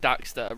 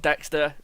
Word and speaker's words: Daxter: No, I was going to talk about Jack and Daxter for a minute. Because I feel like that generation of Crash Bandicoot, Jack and Daxter, Ratchet and Clank. yeah. It is Daxter, not Dexter.